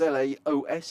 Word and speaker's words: Laos: of street food in is it is it pronounced L yes it is Laos he says I've been watching since Friday we've